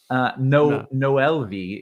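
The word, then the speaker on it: Noel Vi: Noel V is the pronunciation, by the way.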